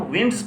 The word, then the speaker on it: winds: اب ہم اس کو اگر ہم ونڈز پڑھیں گے تو اس کا مطلب ہوگا ہوائیں، اور اگر ہم لوگ اس کو پڑھیں گے وائنڈز تو اس کا مطلب ہوگا بل کھاتے ہوئے رستے.